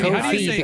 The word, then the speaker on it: Ko-fi: But British people might say Kofi or something. Well, they say coffee because the whole point is that you've got a mug. You're paying for their coffee, but they can't say coffee.